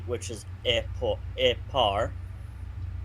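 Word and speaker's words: epor: e which is EP epar not eore that's how it's spelled but it's got e par for its pronunciation so it's spelled e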